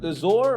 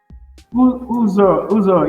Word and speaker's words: Uzo: I see, is it Uzor or how do you pronounce it? Uzo, yeah. Uzo is the short form. It's Uzoma, but Uzo is a short form.